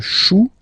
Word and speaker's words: chou: Then un chou. Okay, remember, when you combine this C and H, you get the sound sh, sh, sh.